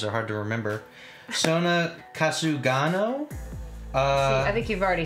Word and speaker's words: Sora Kasugano: Sora Kasugano? See, I think you've already said it wrong, just by looking at it. Yeah, that's what it is. Sora Kasugano.